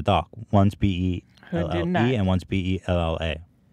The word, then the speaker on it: Bella: One's B-E-L-L-E and one's B-E-L-L-A. It's Bella with an A.